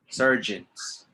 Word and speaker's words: surgeon: Surgeons. Gin, like Jimmy, but with an N.